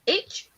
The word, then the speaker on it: Aitch: It's Aitch. I would pronounce it H.